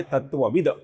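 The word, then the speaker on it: तत्त्वविद्: इसका जो अपूर्ण त है इसका आगे ए स्वर आने के कारण त थ द ध न में से तीसरा अक्षर अर्थात अपूर्ण द बनता है। ये तत्ववित का होता है तत्वविद।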